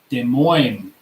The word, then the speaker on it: Des Moines: you got it right okay boy there is Des Moines there we are man I think it's French